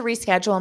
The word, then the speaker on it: reschedule: I need to reschedule my appointment. So notice you pronounce this re in front of schedule. Reschedule. It's a stressed sound.